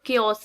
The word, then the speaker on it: chaos: ये word क्योस है, इसकी प्रोनाउंसिएशन आपने क्योस पढ़नी है.